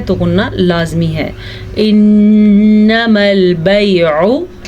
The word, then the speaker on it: البيع: انما البیع، عین کے تلفظ کا خاص خیال رکھیں، کیونکہ اگر عین کے مخرج کا ہم خیال نہیں رکھیں گے تو یہ حمزہ بن جائے گا. ٹھیک ہے، بیعو غلط ہوتا ہے، بیعو.